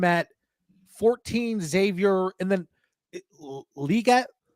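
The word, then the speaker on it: Legette: I think I call him Liget. I don't know. But that's right. There was a big thing I saw on Twitter about the pronunciation. I say Leggett. I'm sticking with Leggett.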